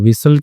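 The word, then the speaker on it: whistled: okay विसल्ड ठीक है तो विसल्ड क्या होता है इसमें टी साइलेंट होता है यहां पे सिटी बजाए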